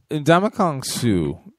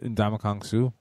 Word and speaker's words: Ndamukong Suh: No, it just, that first one sounded a little funky. Did it sound like I said Donkey Kong Suh? Yes, it did sound like you said Donkey Kong Suh.